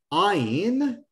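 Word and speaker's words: עין: Ayin is silent, like talking with your eyes.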